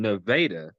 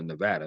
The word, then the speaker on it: Nevada: So, the last two was in Nevada. I don't know why they don't call it Nevada because that's what how it's spelled, but they say Nevada, Missouri, and Marshall, Minnesota.